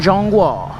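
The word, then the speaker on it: 中华: I'm riding no plates in Jong Wa, which is how you say China in Chinese.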